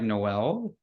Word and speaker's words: Noel: your name right yeah it's actually pronounced um like Christmas like Noel so it's like a